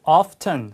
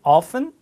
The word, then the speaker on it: often: 자, how often 혹은 often 발음 둘 다 괜찮고요.